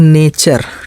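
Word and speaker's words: nature: पांचवा नियम है, जब टी के बाद यू आर ई आए तो इसका उच्चारण चा करते हैं। ठीक है, जब भी जो है टी के बाद यू आर ई आता है तो टी यू आर ई, ठीक है, पूरे का उच्चारण क्या पढ़ते हैं, चा। जैसे देखिए एन ए टी यू आर ई, ठीक है, टी यू आर ई, तो क्या पढ़ेंगे, नेचर।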